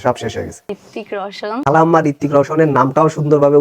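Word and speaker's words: रोशन: শেষ হয়ে গেছে ঋত্তিক রওশন খালাম্মা ঋত্তিক রওশনের নামটাও সুন্দরভাবে উচ্চারণ করতে পারে না তারপরে আবার বলতেছে এ নাকি তার ক্রাশ ঋত্তিক রওশন খালাম্মা ওইটা ঋত্তিক রওশন না ওইটা রওশান হবে রওশন টিকটকার বলে কথা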